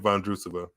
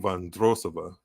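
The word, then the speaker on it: Vondroušová: forehand wide set point Von drusva the chair Empire saying vandrosova I should work on that I should have you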